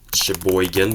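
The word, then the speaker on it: Cheboygan: Jackson, Kalamazoo, Portage, Sheboygan, but it's spelled with a C.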